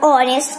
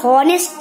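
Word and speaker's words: honest: तो ऑनेस्ट का हॉनेस्ट नहीं बोलते, तो इसका मतलब इग्नोर तो करना हुआ एच को।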